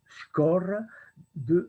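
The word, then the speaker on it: schorre: comment dire en géographie, la shore de Skor, ça s'écrit S-C-H-O-2-R-E, c'est un terme néerlandais, flamand, de la baie de Chingoudi.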